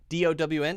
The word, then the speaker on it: down: And then down, notice my mouth is going from big to small.